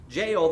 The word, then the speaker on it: Jael: And I listened to it, and that's how they pronounced it. Jael, the wife of Heber, the Kenite, because there were friendly relations between Jabin, king of Hazor, and the clan of Heber, the Kenite. Jael went out to meet Sisera and said to